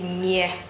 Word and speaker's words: nie: And the word no is nie, nie, nie.